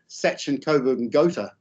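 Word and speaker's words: Sachsen-Coburg und Gotha: wasn't a prince of Sachin Coburg and gota which is the German pronunciation he was just Albert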